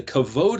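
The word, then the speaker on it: כבוד: k v d remember the bet is pronounced as either b or v like in spanish kavod or kabbald kabad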